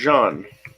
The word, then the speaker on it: Jean: a name then friend my name is John the relatively famous musical I'm called Jean Valjean pronounced the same way Odia image yes he